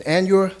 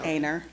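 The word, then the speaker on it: Aynor: And whereas David Scott was born in Anure, South Carolina. I hope I'm pronouncing that right. Aner Aner Aner, South Carolina on June 27th, 1945.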